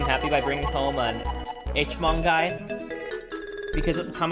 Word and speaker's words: Hmong: Pronounced Hmong. H-Mong.